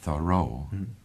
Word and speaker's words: Thoreau: Et j'ai pensé que le deuxième syllabe était O. Et d'abord je l'ai appelé Muo. Mais j'ai regardé finalement dans le dictionnaire. Et j'ai vu qu'il faut dire Thoreau. Et le deuxième syllabe c'est Ro.